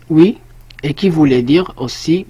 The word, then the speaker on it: hui: فهاد لو كا هذا ديال au jour d'aujourd'hui عندنا jour d'aujourd'hui كنلقاو عاوتاني jour وسط aujourd'hui وكنلقاو HUI qui se prononce oui et qui voulait dire aussi jour.